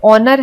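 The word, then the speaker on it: honour: तो वैसे आपको कुछ और वर्ड्स दिए गए हैं, जैसे ऑनर है, इसमें H साइलेंट होता है।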